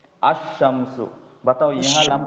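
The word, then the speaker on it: الشمس: असमसु। अशम्सु। बताओ, यहां लाम का अशम्स प्रोनाउंसिएशन हो रहा है या नहीं?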